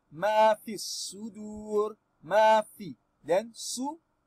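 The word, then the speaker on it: ما في الصدور: Then su, the Alif al-Wasli and lamu we jump them because they are silent letter. We say ma fi sudur sudur. Aha. This waw maddi saying draw the letter before me, meaning we should prolong this dalil dhamma.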